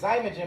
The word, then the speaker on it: Xymogen: It's it's cuz it's Xymogen, but it's spelled with an X.